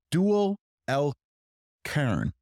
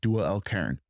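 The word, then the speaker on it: Dhul-Qarnayn: And the two-horned one, it's Dual al-Qarn. That's how you say it in Arabic, Dual al-Qarn.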